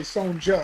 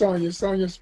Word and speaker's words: Sonja: Okay, I always am tempted to say SONJA because that's how her name is spelled, but it's pronounced SONJA Stelly.